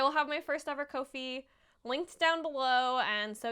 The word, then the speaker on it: Ko-fi: wanted to pronounce uh kofi right um and i was reading how to pronounce it and it rhymes with no fee is what they said which i think is